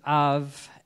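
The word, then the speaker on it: אב: name for father and the letter B is pronounced with a V so it's of and when the Hebrew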